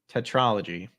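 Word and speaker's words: tetralogy: of the day let's see how we correctly pronounce this you know Trilogy tetrology according to Miriam Webster tetrology there you go all right and then you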